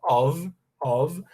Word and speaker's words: of: A preposição of é pronunciado com som de V, tá? A gente fala of, a gente fala of, ela significa de, ok?